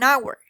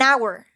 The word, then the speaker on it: hour: waiting for about an hour hour also is a spell with H the H is not pronounced here we encountered the silent H an hour moreover for the definite